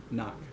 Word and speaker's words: knock: We pretend like it's not there. It just turns into an n. Knock. that would be how you say it.